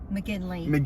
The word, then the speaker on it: McGinley: McGinley.